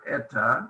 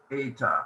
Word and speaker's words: eta: epsilon zeta eta theta this is not eta this is eta that's how we pronounce this letter eta so uh epsilon